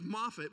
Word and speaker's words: Moffatt: name that's right so our last name is Moffett but if you look how it's spelled it's m-o-f-f-a-t-t so in the they